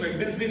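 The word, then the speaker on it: Wednesday: बहुत सारे लोग होंगे जो इसे वेडनेसडे बुलाते होंगे, बट ये वेडनेसडे नहीं है। आपको पता है डी यहाँ भी साइलेंट है, तो डी यहाँ भी साइलेंट है, इसे हम क्या पढ़ेंगे?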